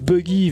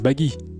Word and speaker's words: Buggy: Maintenant je prononce buggy vu que je l'ai vu écrit avec notre alphabet. C'est Baggy, Baggy évidemment.